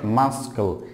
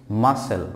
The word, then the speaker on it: muscle: a mass scale so this world is not Maskull its muscle muscle so Marcel joke about